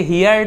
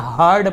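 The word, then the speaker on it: heard: The river goddess, नदी की देवी, हर्ड हिम, इसे हियर्ड ऐसे नहीं पढ़ेंगे, हर्ड पढ़ेंगे, ठीक है, हर्ड।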